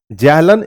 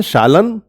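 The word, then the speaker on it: zählen: तो देखो guys, z comes from the German word जैलन। इसको जैलन नहीं पढ़ते हैं, विच मीन्स टू काउंट। ठीक है ना, इसको जर्मन में पढ़ते हैं शालन। ठीक है, उसका प्रोनाउंसिएशन शालन होता है।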